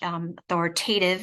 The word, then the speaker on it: authoritative: So knowing that you, as the protective parent, need to come from an authoritative place, which authoritative rhymes with give.